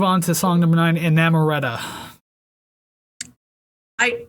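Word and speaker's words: Inamorata: to song number nine enamoretta i i did not pronounce it like that in my head i like that a little more sounds like amaretto yeah um i found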